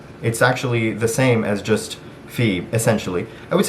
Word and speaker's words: في: you should know that if there's an h it means that it's you're saying inside of it right you're not just saying fee like in so sorry if